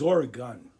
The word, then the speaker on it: Oregon: Like, Oregon is Oregon. Gun at the end.